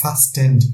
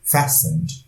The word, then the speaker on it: fastened: The old lady fastened, উচ্চারণটা লক্ষ্য করবে, এটা fastened নয়, fastened, T silent, fastened.